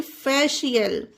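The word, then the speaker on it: facial: example को एफ ए सी आई ए एल फेशियल श का निकला इसमें उच्चारण फेशियल ना ही फेशियल होगा ना ही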